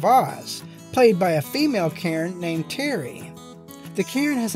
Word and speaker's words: Cairn: Not Cairn Terrier. Cairn, one syllable.